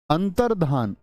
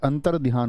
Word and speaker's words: अंतर्धान: है कोई दिक्कत अंतर्धान अब यह जो शब्द होता है हमारा यह अंतरध्यान होता है क्या बोलोगे बहुत सारे दोस्त क्या बोलेंगे इसको अंतर अंतर ध्यान ऐसी ध्वनि निकाल लेते हैं लेकिन अंतर ध्यान नहीं होता अंतर धान होता है बहुत इंपोर्टेंट वर्ड है